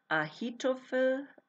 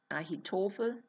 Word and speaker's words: Ahitophel: Now, what's really, really even more interesting is that Iliam is actually the son of Ahitophel. Ahitophel. It's spelled Ahitophel.